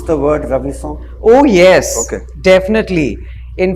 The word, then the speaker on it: Ravison: Have you ever needed to, like Peugeot, help people pronounce the word Ravison? Oh yes, Okay. definitely. In fact, they think it's Ravi Sons. Yeah. like Ravi Chawla, so Ravi's Sons.